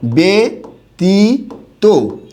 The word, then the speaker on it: ব্যতীত: হবে ঠিক আছে আমি এরকম শব্দ লিখলাম হচ্ছে ব্যতীত এরকম একটা শব্দ লিখলাম ব্যতীত তখন এটার উচ্চারণটা কি হবে ব্যতীত এরকম হবে উচ্চারণটা আবার একটা শব্দ আছে ব্যক্তিত্ব কি আছে